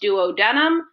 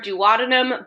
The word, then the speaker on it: duodenum: we call the duodenum it can be pronounced duodenum or duodenum both are correct um now keep in